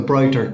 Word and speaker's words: Broighter: There's the brighter collar.